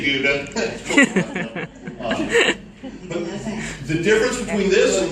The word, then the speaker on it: Gouda: รู้จักใช่ไหมเราเคยได้ยินนะคะอีแดงกับกูด้า Or if you're from Holland, that's pronounced Gouda. ถ้าเป็นคนฮอลแลนด์จะออกเสียงว่าเกาด้านะคะ In America, we say Gouda.